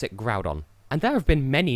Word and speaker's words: Groudon: Groudon on cuz I I used to pronounce it ground on until I realized there wasn't an n in there so yeah I call it Groudon I think we all